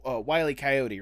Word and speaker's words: Wiley Koyote: don't butcher it up it is like wiley wiley coyote right that's how you pronounce it that is correct just want to